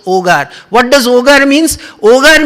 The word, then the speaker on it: Hogar: spiritual destroy ramakrishna ogar actually it is h-o-g-a-r hogar we will say but in spanish h is silent so ogar what does ogre means